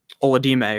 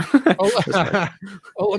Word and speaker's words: Olamide: But at the value, I'd be fine taking Oladime, or however you say his name. Olamide Zaccheaus.